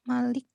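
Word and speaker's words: مَلِك: Oh, yang ma-nya pendek ya? Iya. Oh ya, lupa panjang itu di di Al-Fatihah. Al-Fatihah ya. Fatihah. Baik, kenapa ma-nya pendek? Tapi ada juga yang kalau di Al-Fatihah itu bacanya dua ya. Di Al-Fatihah itu bacaan Malik bisa dibaca Maliki Yaumiddin ya.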